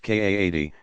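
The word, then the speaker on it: qadi: before a religious judge call ducati pronounced kaa t himself authorized as a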